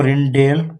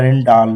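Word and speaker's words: Rijndael: इसको रिंडेल या रिडॉल भी पढ़ते हैं। ओरिजिनल इसकी प्रोनाउंसिएशन रिडॉल है।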